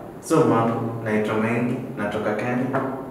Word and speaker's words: Mambo: He says Mambo in the most African stereotypical way possible. And I'm like, you don't say it like that. So I think, Mambo. Try Mambo. Mambo. You've said it. Yeah. Swahili isn't about over-emphasizing how... It's not like Korean where you have to sound Korean.